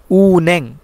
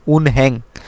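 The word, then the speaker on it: 은행: দোকান সজম বইয়ের দোকান উন্যাং উন্যাং ব্যাংক অনেকেই এই ওয়ার্ড টাকে পড়ে থাকেন উনহ্যাং উন্যাং হবে না কেননা উনহ্যাং কেন হবে না নিয়ন বাচ্চিমের পরে যদি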